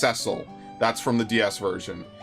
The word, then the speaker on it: Cecil: a delicate Beauty with an Exquisite voice ooh cesil is pronounced cesil that's from the DS version yes I used to say Cecil it's pronounced cesil I can 100% confirm that